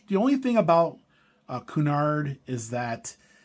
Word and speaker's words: Cunard: Uh Cunard, that's how you say it.